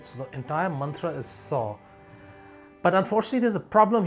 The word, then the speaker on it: Sauh: And it's the mantra Sau, S-A-U-H. It's Sa plus Au plus H.